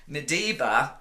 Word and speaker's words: Madiba: going to be talking about his latest book medba a toz the many faces of Nelson Mandela